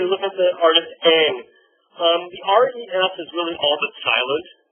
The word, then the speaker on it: Ingres: But the R-E-S is really all but silent, right? Not Ingres, but Ingres, right? So as if it were spelled like A-N-G, right? Is the best way to pronounce it in English.